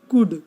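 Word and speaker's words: could: कुड, कुड में भी एल है।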